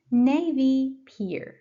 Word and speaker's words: Navy Pier: Navy Pier. Navy Pier. Navy, first syllable.